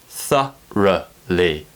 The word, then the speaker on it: thoroughly: of the mouth tha then we need to do a and then we go into a schwa sound which the tongue raises a little bit higher compare these two ah thoroughly thoroughly thoroughly please check